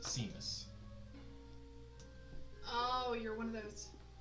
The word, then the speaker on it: Seamus: Seamus Carter. Seamus? Seamstress? Seamus. Seamus? Seamus? Spelled like Seamus, pronounced Seamus.